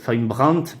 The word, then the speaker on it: Brandt: ses amis, Von Braun, Brandt, pardon, parce qu'en allemand on prononce toutes les lettres, de rationaliser l'État en